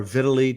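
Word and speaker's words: Vitali: uh vitale or vitili depending on how you pronounce his name i say vitale and vladimir klitschko brothers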